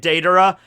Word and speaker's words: Deidara: this video all right i will try to say it daedra but i'm gonna flub